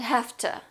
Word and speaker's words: hafta: Now, oughta and hafta. A stand for something very different here. To. So we have oughta instead of ought to. And hafta instead of have to.